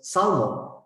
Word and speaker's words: salmon: person kind of says salmon and they pronounce the L which they shouldn't but they do and